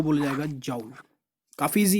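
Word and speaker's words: Joule: है, वो बनती है जाउल। कोई जूल भी बोलता है भाई, लेकिन इसकी सही प्रोनाउंसिएशन जाउल ही होती है।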